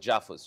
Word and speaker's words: JAFUS: I call it JAFUS, Japan, Philippines, US. I mean, it rhymes well with AUKUS.